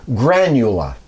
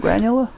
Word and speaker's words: Granula: Uh he invented what he called and uh you'll have to give me a little um leeway on the pronunciation, but it's granula.